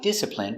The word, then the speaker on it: discipline: D I D s dis I disip discipline discipline. I discipline discipline. Discipline. Discipline. Discipline. Stress on the first syllable.